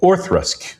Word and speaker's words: Auchroisk: And IDV starts a brand new distillery called Orthrusk, which is spelled Auchroisk. So nobody knows how to pronounce it.